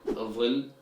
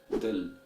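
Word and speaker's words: ظل: But in Egyptian Arabic dialect, this word is pronounced as dil, dil with the Dal or D sound.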